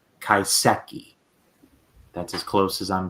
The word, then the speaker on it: Kaiseki: to try my best I called it kensuke so many times even though I know it is not that it is kaiseki that's as close as